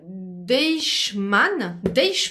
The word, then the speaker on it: Deichmann: acheté des chaussures, d'ailleurs elle aussi, ici, chez Deichmann, c'est comme ça que ça se prononce, bon bref, Deichmann chaussures.